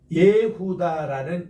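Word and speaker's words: יהודה: 예후다를 이제 본래 발음은 여후다가 돼야 되는데 요즘 편의상 할 때는 이것도 예루살렘이 아니라 예루살렘, 이것도 여후다가 아니라 예후다 이렇게 발음을 해요.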